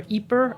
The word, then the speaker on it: Ieper: So it's Ypres in French, Ypres, or Yper, Ieper, if you're Flemish. And the British just call it Wiper. Because it's a Y per.